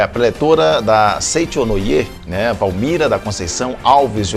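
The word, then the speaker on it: Seicho-no-Ie: Bom, Valmira, Seichonoye, qual que é a pronúncia correta? Seichonoye.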